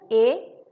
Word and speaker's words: へ: But when we use this he in grammar, pronunciation changed to a.